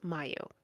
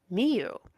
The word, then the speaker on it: Miu: calling me oh was Mayo Mayo she's said that's not my name it's Miu where did you get